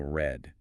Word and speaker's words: read: Was it that pronunciation shift? Read becoming red.